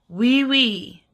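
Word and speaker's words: Wīwī: So, the Māori word for France is wee wee. The way we spell that is wee, with a tohuto, a macron, wee, tohuto.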